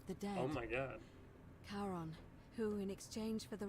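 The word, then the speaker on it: Charon: it's just as you described it only your pronunciation is a little off the name you heard wasn't Karen it was c h a r o n as in Caron the ferryman of the day oh my God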